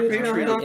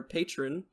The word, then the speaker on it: Patreon: willing to do it if you join our patreon all right yeah join our patreon and uh oh yeah the serious episodes that